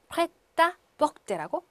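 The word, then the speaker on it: prêt-à-porter: 그래서 프레라고 읽으셔야 돼요. 이제 무슨 뿌레 뭐 그렇게 읽지 않습니다. 그래서 프레, 그 다음에 티가 아랑 이렇게 연결돼서 프레따 뻑대라고 해주시면 됩니다.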